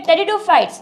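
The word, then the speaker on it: pteridophytes: टेरिडोफाइट्स produce ठीक है टेरिडोफाइट्स इसे प्रोनंसिएशन कभी भी पी मत पढ़िए पी नहीं होता है टेडो होता है पी साइलेंट होता है ठीक है टेरिडोफाइट्स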